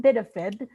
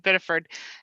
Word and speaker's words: Biddeford: I have to say, Senator DeChambeau, I missed the local pronunciation of Biddeford and leaving out the R.